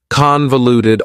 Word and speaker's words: convoluted: Convoluted also has four syllables and the stress is on the first syllable. Convoluted. That second syllable again has that schwa sound, that reduced vowel sound.